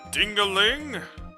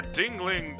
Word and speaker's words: Dingling: Or Dingling, god damn it, I keep saying I'd Dingaling. appreciate you to get the correct pronunciation of my name. I'm sorry. Judge, Your Honor. My dyslexia is activating on that. There's not even a visible A in this thing.